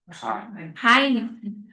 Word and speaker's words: Heine: Eu achei interessante porque o reine é Heine que se pronuncia Heine.